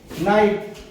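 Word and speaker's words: knight: वगैरे काय देतो ते नाईट मग काय झालं झालाय के हा सायलेंटचा झाला के हा सायलेंटचा झालाय जसं की नाईट आहे नाईफ पण आहे नाईफ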